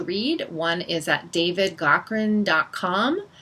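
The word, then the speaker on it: Gaughran: one is at David Goren calm that's spelled GA ugh ra n he's Irish so David Cochrane calm and written word Mediacom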